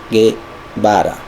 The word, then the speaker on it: Guevara: No puede pronunciar su apellido. Es Che Guevara. No es doble R.